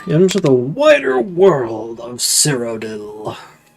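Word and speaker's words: Cyrodiil: And on we go into the wider world of Cerodil. Cirodil. There are two eyes, but it's pronounced Codil.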